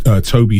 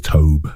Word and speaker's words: Tobe: I always thought his name was to but I've heard people say it's Toby I literally have just been going Toby yeah I I've all my life thought it was to I heard someone say his name in an interview once and they said Toby and I assume they know him better than I do so ever since then I now say Toby you know um I